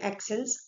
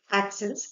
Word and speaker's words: accent: Now, let's see first that how many accents are there in French. Okay. Okay. So, there are five accents in French. How we pronounce the word accent in French is accent.